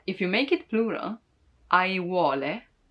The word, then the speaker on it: aiuole: But if you make it plural, aiuole, a-i-u-o-le, aiuole, then you can practice all the vowels all together.